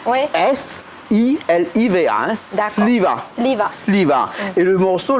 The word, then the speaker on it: Siliva: Il s'appelle Siliva. Siliva, et Siliva. c'est toujours un malgache. Oui, c'est un malgache. Alors, on a du mal à prononcer parce qu'il commence par T, Oui. S-I-L-I-V-A. D'accord. Sliva.